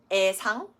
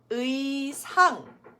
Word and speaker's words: 의상: So it's not 애자 or 애상. It does need to be said as 의자, 의상.